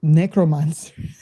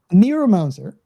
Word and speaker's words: Neuromancer: very famous book that I keep on mispronouncing as necromancer, neomancer, was it? Neuromancer.